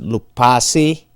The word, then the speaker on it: Loupassi: Last name is pronounced Loupassi, L-O-U-P-A-S-S-I.